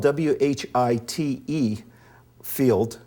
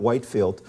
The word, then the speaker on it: Whitefield: and it's it's spelled Whi Tfield, but it's pronounced Whitfield, not Whitefield.